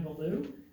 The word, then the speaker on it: Bellew: My name is Beulah, and last name is spelled Bellew, and my address is N8690 Wilmers Grove Road, East Troy, Wisconsin 53120.